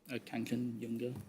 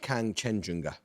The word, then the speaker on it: Kangchenjunga: Kanchenjunga. I don't know how to pronounce it. Kanchenjunga. Yes, I'll accept that. It's pronounced Kangchenjunga.